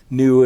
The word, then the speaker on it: Nhu: Nu is a Vietnamese girl, and her name is spelled N-H-U.